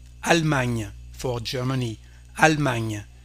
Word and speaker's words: Allemagne: Allemagne, for Germany, Allemagne. Here we don't pronounce this E.